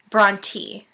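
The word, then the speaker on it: Brontë: this name and it's Bronte so makes an e sound not an a sound so I was saying Bronte it's Bron te so thank you Jesus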